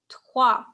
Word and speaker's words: trois: Now take that wa. Okay. Now pronounce this word. Taquoi. Wa. We say Taquoi. wa is, right? Voice. So it's wa. Wa. Trois.